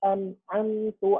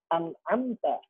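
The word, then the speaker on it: أنعمت: Misalnya, siratal ladzina an'amtu alaihim. Nah, teman-teman, ibu-ibu bisa memperhatikan ya, di sini kita bacanya bukan an'amta, tapi an'amtu.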